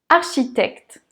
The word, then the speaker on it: architecte: avec la hiérarchie architectes architectes art on entend le r chi on retrouve le son cheveu tect le berner eux n'est pas prononcé architectes architectes architectes dans